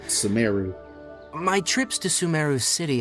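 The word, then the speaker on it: Sumeru: Sumaru. That's I was saying Sumaru, but Sumeu.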